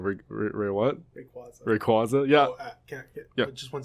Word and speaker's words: Rayquaza: Um, in the anime, well, I guess in the movies specifically, they call him Rayquaza. Uh, now most people take the anime to be like the canonical pronunciations, but it's Rayquaza.